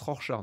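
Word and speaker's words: Rorschach: qu'est-ce que vous voyez rorchard ça se prononce rorchard nous dit PAP un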